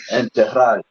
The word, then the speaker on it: enterrar: Spell that for me. Enterrado. E-N-T. Hold on. And you said enterrado. It's enterrar.